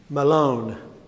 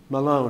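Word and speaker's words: Mahlon: know how to pronounce it right here May Malone Malone that's how you pronounce it the Hebrew word here Malone everybody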